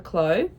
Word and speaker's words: Clow: Afric sweater from Rebecca Clow. Thank you to the commenter on my previous video who informed me that that is how you pronounce her last name, Clow like low.